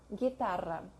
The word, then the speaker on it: guitarra: If it does not have this sign on top, it's silent. So, guerra, guitarra.